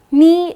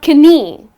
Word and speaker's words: knee: Now the correct pronunciation is knee, but the moment you look at the spelling. It’s Knee, so you keep wondering why is it not Kanee? Well, it’s not kanee, but it’s just knee.